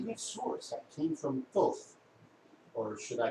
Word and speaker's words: Thoth: That came from Thoth, or should I pronounce it more correctly? Thoth. That's how he pronounces it.